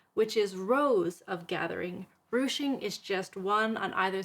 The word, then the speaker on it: ruching: it will be the ruching sample are you CH ing often mispronounced retching don't know why but it's a thing so ruching is defined